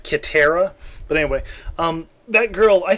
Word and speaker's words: Katara: That, I think even the girl who played Katara, or what probably should have been pronounced Kitara, but anyway, that girl,